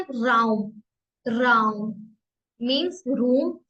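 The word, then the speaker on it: Raum: quark quark mean curd and चीज आर को pronounce करेंगे एर एर एर ठीक है राउम राउम मींस रूम या स्पेस नेक्स्ट है एस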